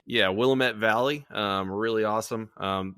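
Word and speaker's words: Willamette: that is it the is it the willamet or the the wamit yeah Willet Valley um really awesome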